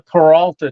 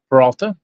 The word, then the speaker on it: Peralta: we're going um uh the paralta trail so we're proba not pronounced right but that's fine they get the idea I think it's Peralta yeah so we were